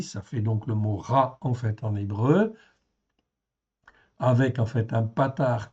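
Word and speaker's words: רַע: Donc ici, ça se prononce donc ra.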